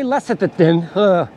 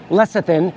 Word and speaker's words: lecithin: of alcohol and then two teaspoons of soy less at the thin totally mispronounce that lecithin it's an emulsifier dissolved in 250 milliliters of